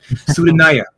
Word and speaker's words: Sudanaya: Sudanaya. Sudanaya? Sit, like if saying sitting on you, like sitting on you, or like sitting on you.